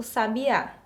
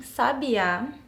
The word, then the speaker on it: sabiá: última alternativa a mãe sabiá sabia onde estava o sábia então quando eu pronuncio essas palavras com acento correto Eu percebo que muda o sentido e qual que tá